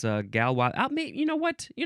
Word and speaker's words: Galois: It is galwa theory or I guess it would be gal. Galwa or galwa. Emphasize either syllable. The first word is capital g a l o i s. It looks like galois. My grandma's name was Lois. So she's a gallowis. No. Uh galwa theory noun from 1893.